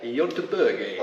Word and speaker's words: Göteborg: We had a nice little week away up at Gothenburg, or as the Swedes would say, Göteborg.